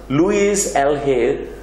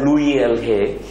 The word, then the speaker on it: Louise L. Hay: Louise L. Hay, it's pronounced as Louis L. Hay.